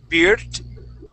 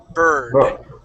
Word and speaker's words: bird: word uh bird okay there you would say beard okay pronouncing more of that I sound we would say bur bird okay so um uh